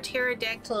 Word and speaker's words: pterodactyl: can't you hear a pterodactyl in the box because the p is silent yeah i like that